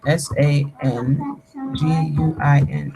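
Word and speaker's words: sanguine: S A N G U I N E Sanguin. All right, there you go. Sanguin rhymes with penguin, right?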